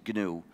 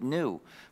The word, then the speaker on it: GNU: just a bonus and the correct pronunciation is gnu when it's the name of our system the dictionary will tell you to pronounce it new but if you say